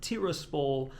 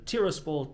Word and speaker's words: Tiraspol: It's actually not Tiraspol. Andre taught me actually I'm supposed to be putting the emphasis on the A. So rather than Tiraspol, Tiraspol.